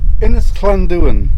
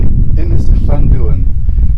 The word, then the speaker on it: Ynys Llanddwyn: So, we've come to Ynys Llanddwyn. I think I've pronounced that correctly. Ynys Llanddwyn.